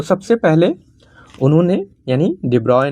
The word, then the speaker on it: de Broglie: तो ब्रोगली हिंदी में हम लोग पढ़ते हैं लेकिन इनका नाम डिब्रॉय पढ़ा जाए। जो एक्चुअल प्रोनाउंसिएशन है वह डिब्रॉय है।